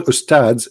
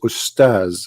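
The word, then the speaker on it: أستاذ: to say the word because the word Ustads is not correct in the way they say it. The word in Arabic is Ustaz, which means a master, teacher. So they call themselves Ustaz, teaching you rubbish.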